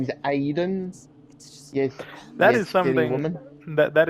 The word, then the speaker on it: Aiden: cuz it's so stupid she's literally pronouncing it wrong it literally starts with the letter a and she skips the a she calls him Iden I think everyone else calls him Aiden I think cuz she's